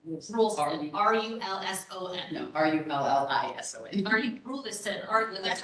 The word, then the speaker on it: Rulison: And I'm sorry, you said Ralston? Rulson, R-U-L-S-O-N, no, R-U-L-L-I-S-O-N. Rulison, That's spelled R-U-L-L-I-S-O-N.